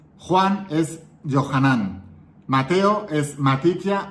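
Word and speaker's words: יוחנן: Fíjate, en arameo, Jesús se pronuncia Yeshua bar Yosefet. Pedro es Kefas. Juan es Yohanan.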